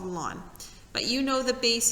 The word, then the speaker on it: ln: the way it's pronounced lon like the like your front lawn okay that means this